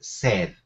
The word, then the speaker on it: sed: The pronunciation is sed.